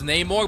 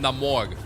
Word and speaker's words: Namor: I know it's Neymorg, but I pronounce him Namorg.